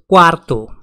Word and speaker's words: cuarto: means first second is segundo segundo fourth is cuarto quarto pay attention here it's not cuatro four is cuatro fourth is cuarto fifth is sixth is sexto seventh is septimo